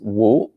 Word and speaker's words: wu: is the japanese pronunciation the chinese pronunciation is wu this is a insight